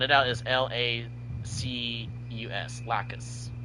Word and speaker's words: Lacus: Because it sounds like Lacus, and it sounds like you're adding another syllable or another letter.